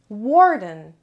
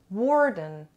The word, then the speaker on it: warden: this lesson number one warden warden warden warden has two syllables and de-stresses on the first level warden warden means a keeper